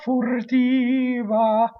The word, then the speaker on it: furtiva: The R is not going to make the first syllable rhyme with fur, right? Fu, fur, furtiva, right? Not furtiva. That's what we do. We neutralize in English, right? So A is always A. Furtiva.